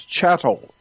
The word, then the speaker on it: chattel: street, they call us chattel. Look that word up in a dictionary. It's spelled C-H-A-T-T, chattel. Not cattle, like a bull, but chattel.